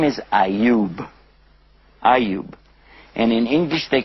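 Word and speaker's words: Ayyub: famous to us as well his name is auu auu and in English they call him job but they spell it j o b which looks like job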